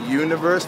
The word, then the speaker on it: Youniverse: up youtube reverse no can i just call it the universe but it's spelled y-o-u i'm gonna do that